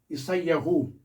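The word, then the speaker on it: ישעיהו: Aqui em hebraico, nós temos aqui Isaías, que a pronúncia é Isaiu.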